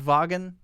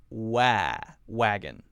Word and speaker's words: Volkswagen: say also Volkswagen Volkswagen not n' not vagan but Wow wagon Wow wagon Volks wagon next one Amazon